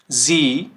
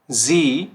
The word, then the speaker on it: sie: बट ये sound कैसे कर रहा है, जो हमारा ई अल्फ़ाबेट होता है इंग्लिश का।